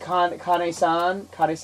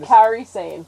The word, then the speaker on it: Kairi Sane: I'm sure, and plus how do you pronounce it? Kane-san? I forgot. Kairi Sane.